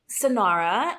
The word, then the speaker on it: Sanara: or Latina meeting yeah so sonara um it comes from the Spanish word son so if you had an accent on the last a mean son exactly uh